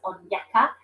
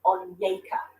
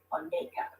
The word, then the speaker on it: Onyeka: so I've been um I've been saying her name as onyeka but was a very helpful pronunciation guide at the back which is definitely what I need and it's actually on yaker so I'm trying to correct myself and say on Nico okay let's catch up